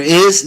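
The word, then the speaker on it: hay: H is silent and Y at the end of a word sounds like an I.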